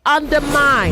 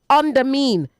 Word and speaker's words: undermine: Say undermine. 99.3. Say undermine, not under mean. Undermine. I'll stop here for once to update.